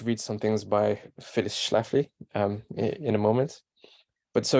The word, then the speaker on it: Schlafly: So there's a lady called Phyllis Schlafly, that's how you say her name, Schlafly, a conservative lawyer and